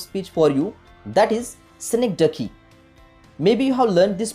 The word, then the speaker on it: synecdoche: Remember the pronunciation of this particular word, that is synecdoche.